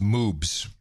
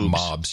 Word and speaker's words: moobs: By the way, it's pronounced moobs. Not mobs. You said mobs or something. I don't know what you said. I thought I said moobs.